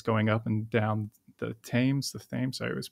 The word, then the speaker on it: Thames: kind of a pleasure boat that's going up and down the Thames. I always mispronounce it.